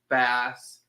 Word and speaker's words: Bass: bass and bass but the beer bass is pronounced like the fish bass okay um our local